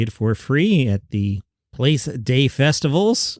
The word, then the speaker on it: Place des Festivals: You can see it for free at the Place des Festivals, which is how it's pronounced in French.